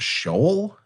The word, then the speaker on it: Sheol: They just believe that you go to Sheol, which I think is the right pronunciation for that.